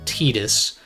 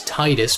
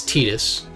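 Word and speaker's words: Tidus: little bit but like the protagonist from Final Fantasy 10 tetus is spelled like TI d u s which you would think is Titus because of the water beaming going on there but no it's it's tetus as in Te not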